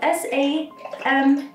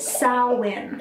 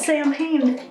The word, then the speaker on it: Samhain: So Samhain, pronounced, spelled S-A-M-H-A-I-N, yes, is pronounced Samhain, not Samhain. If you're like me, you pronounced Samhain for a long ass time, but it is pronounced Samhain.